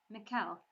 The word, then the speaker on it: Mikkel: Since coming on board, he had changed the way he pronounced his name, Mikkel, instead of trying to say the Irish Michal.